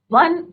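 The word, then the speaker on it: one: Similarly अगर हम बोलते हैं वन आई मैन, क्या बोलते हैं हम, वन आई मैन या वन आईड मैन। तो वन क्या है बच्चों, ओ का प्रोनाउंसिएशन नहीं हो रहा है इसमें, किसका हो रहा, व का हो रहा है, वन।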